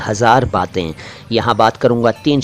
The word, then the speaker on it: हज़ार: हज़ार को हजार ना कहें, अर्थ आप जानते हैं लेकिन उच्चारण कई लोग लापरवाही में बोलते हैं, हजार कह देते हैं, हज़ार है हज़ार। वीराने में बहार लाया था